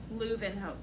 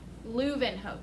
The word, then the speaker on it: Leeuwenhoek: Leeuwenhoek. I'm saying it. Copy what I'm saying. Don't look at the letters because these are German and they're very weird. Leeuwenhoek.